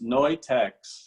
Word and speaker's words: Neutex: Can you pronounce it? Sure, it's Neutex, N-E-U-T-E-X.